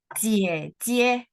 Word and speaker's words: 姐姐: Eh, ya, kakak perempuan kita bacanya cie, cie.